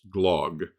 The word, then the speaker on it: Glogg: Again, there are several available, and I use glog, which is spelled Glogg.